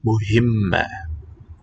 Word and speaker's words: مهمة: stroke below the H. It's a vowel sign called kasra, which marks basically the E, the high front vowel. This syllable's a he. Muhim, مهمة. muhimma.